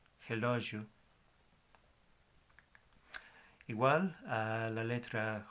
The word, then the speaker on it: relógio: Más bien, el sonido es je. La palabra de reloj es relógio. Je, relógio.